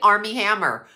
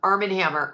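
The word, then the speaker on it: Armie Hammer: after but look at Army Hammer I always say that name wrong Armen Hammer Army Hammer goodlooking 6' five okay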